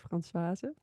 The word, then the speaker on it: Françoise: Hi, everyone, and welcome to this week's episode with Françoise again. Or did I say that right? Can you say your Yeah. name more beautiful than I did? So with Dutch pronunciation, it's Françoise. Françoise, so beautiful.